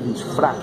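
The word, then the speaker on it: Lisfranc: Llama tubérculo de disfrán. Disfrán. ¿Cómo se escribe el disfrán?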